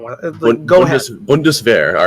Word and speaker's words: Bundeswehr: Bundeswehr. All right. A sh sound. It comes from having like an SCH together. There isn't that in that word.